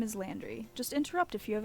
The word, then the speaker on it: Landry: cats do okay that that's probably pronounced slander but I fully read that as laundry first good job Artemus my name is Landry just interrupt if you